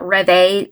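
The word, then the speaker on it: rêve: I had this deja reve story I read, people told me it's not reve, I'm not pronouncing it right, it's rev. Deja rev, I guess.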